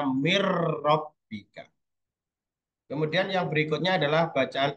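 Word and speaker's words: مِنْ رَبِّكَ: Kemudian ro mirrobbika, ya tulisannya min robbika, bacanya mirrobbika.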